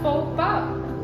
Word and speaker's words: faux pas: And it's not FAUX pass, it's faux pas, which means ruining an on-point outfit.